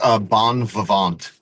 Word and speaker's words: Bon Vivant: So what's the how do you pronounce the album that you have? It's Bon Vivant.